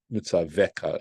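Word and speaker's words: מצוך: these matters, asher anochi mitzavcha, which I am commanding you, mitzaveka is the way that's pronounced, leman yitav lacha, in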